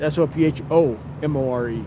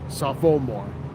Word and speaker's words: sophomore: It's spelled S O P H O M O R E. Safommore, but it's pronounced sophomore.